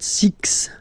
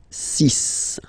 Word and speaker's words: six: be careful here because even if it's ending with this x well you'll have to pronounce it like s okay so you get the sis pronunciation sis okay so it's not six it's sis all right then here